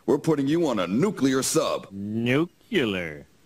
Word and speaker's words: nuclear: It is not nuclear. It's nuclear because it has to do with the nucleus, not the nucleus.